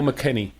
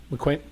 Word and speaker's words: McKinney: Is it McQuenny or McKinney? McQuenny. McQuenny.